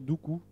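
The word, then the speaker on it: Duqu: Un exemple que l'on a beaucoup disséqué au laboratoire de haute sécurité, c'est l'exemple de Doukou, que je prononcerai Doukou, pour être politiquement correct, qui est un avatar qui est de Stuxnet.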